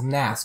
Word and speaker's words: NAS: enough now you lis also oftentimes pronounced as Nass but but you know